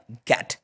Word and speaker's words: get: लेकिन ये एक्सेप्शन है इसलिए इसको गा ही पढ़ा जाएगा और इसका जो प्रोनाउंसिएशन होगा वो होगा गैट, ठीक है।